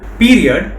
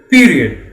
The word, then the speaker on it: period: Remember, it's period and not period. Period is incorrect. The correct pronunciation, please repeat with me, period.